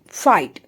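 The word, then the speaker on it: fight: फ आई फाई और टी का साउंड निकलेगा ट यानी कि फ आई फाइट। फ आई फाइट। नेक्स्ट है हमारा राइट।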